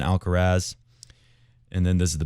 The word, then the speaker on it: Alcaraz: people actually starting to say alkarath rather than alcaraz and then this is